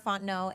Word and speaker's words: Fontenot: Again, my name is Fontenot, and you can find me at Ms. Fontenot. So MSSARAHFONTENOT. The T is silent.